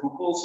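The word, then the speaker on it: Hückel: There's a really important thing in organic chemistry called Huckel's rule, but it's spelled with the umlaut, which means you pronounce it Huckel's rule.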